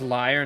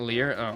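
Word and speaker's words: lyre: like just in general it's pronounced liar not Lear okay well while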